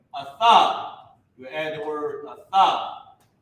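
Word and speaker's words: אַתָּה: Instead of it being ah-tha-ha, it's ah-tha because tha and the character ha are connected.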